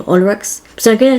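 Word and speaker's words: Olrox: initially heard it, I thought his name was Orlex, but upon searching up videos of him on YouTube and listening to how Julia Belmont said his name, it's apparently pronounced Olrex, not Orlex.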